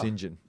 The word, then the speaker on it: St John: okay so it's actually St John but it's pronounced singen I believe my wife doesn't believe that after